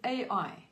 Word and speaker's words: Ai: next place that was called Ai and it's spelled AI maybe South Africa we can say I okay God told Joshua